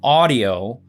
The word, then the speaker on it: Audiio: while, but this new system, Audio, which is spelled AUDIIO, they reached out to me.